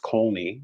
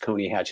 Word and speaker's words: Coney Hatch: It was originally spelled Colney, but not pronounced Colney. It's pronounced Coney Hatch. And so we just took the L out.